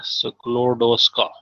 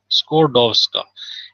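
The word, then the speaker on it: Skłodowska: दूसरी है जी मैरी स्क्लोडोस्का स्कोडोस्का। इसमें एल जो है ना इसको साइलेंट पढ़ते हैं, तो स्कोडोस्का क्यूरी, मैरी स्कोडोस्का क्यूरी।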